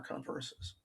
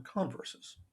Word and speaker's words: converses: the two things are converses i think i put the emphasis wrong there the two conditionals are converses accent on the first syllable the joke is to